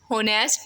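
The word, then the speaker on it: honest: Then N होनेस्ट मैन, an hour. The letter H is silent, so the word begin with uh vowel sound.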